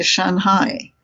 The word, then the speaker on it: Shanghai: And for instance, in Chinese, markedly noticeable is that they don't emphasize the ing sound. So, for instance, they say Shanghai.